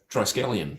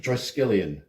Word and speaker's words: triskelion: we looking at okay like obviously in my pronunciation was way off oh okay is that a tripod Mac the triscallium triskelion it is a tripod Mac yes 3146 okay